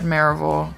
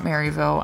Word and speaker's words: Maryville: And Alcoa and Maryville are the cities we typically associate with Blount County. So you can go check out my Maryville videos. And that's right, I said Maryville, not Maryville.